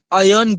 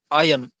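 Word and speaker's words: iron: Next, अन आयरन gate. इसे आप आयरन नहीं पढ़ेंगे, आयरन नहीं पढ़ेंगे, इसे आप प्रोनाउंस करेंगे आयन।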